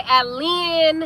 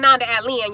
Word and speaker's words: Annda Allenn: Annda Allenn. It's really Annda Allenn, y'all. But I say Allen for the sake of the people because I know that's probably how they pronounce it.